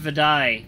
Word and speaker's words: Utai: Pronounced Vidai. Oh, Vidai in the Rukai language.